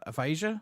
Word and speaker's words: Aphasia: Now, you have released a new track, and I hope I pronounce this right. Aphasia, is that right, or am I wrong?